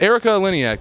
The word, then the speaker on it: Erika Eleniak: Chaka Khan Charleston West Virginia I'm here with Erika Eleniak did I did I pronounce that correctly yes that was beautiful I